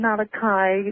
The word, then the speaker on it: Malachi: With that lovely name, Malachi, yes, pronounced in the Gaelic, you obviously have heard of the prophecies of St.